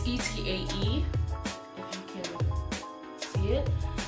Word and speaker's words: TAE: I got this for Valentine's Day for my booski, and this is the TAE, I believe it's pronounced TAE. It's TAE, if you can see it.